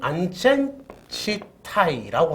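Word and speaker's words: 安全地帯: 일본 발음으로 하면 안전지타이라고 하는데 이 안전지대라는 그룹은 사실 전봇대 스티커 표지인 안전지대 스티커가 빅토리의 V처럼 보여서 짓게 됐다고 합니다.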